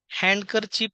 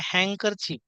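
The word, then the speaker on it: handkerchief: letter silent letter आहे आपण नेहमी हँडकर चिप म्हणतो तर डी हे सायलेंट लेटर असल्यामुळे हँकर चीप हँडसम नाही हँडसम सँडविच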